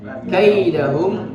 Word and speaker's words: كيدهم: Kemudian kaidahum, di situ ada lin. Ya, harus kai harus diucapkan dengan ringan dan tidak boleh diganti dengan huruf hamzah. Kaidahum tidak, tapi kai. Yaj'al kaida, ya, yaj'al kaidahum. Tidak boleh dibaca kaidahum, kai, tidak.